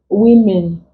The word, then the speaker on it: women: sound is not here women this is what contains the short e sound then key also contains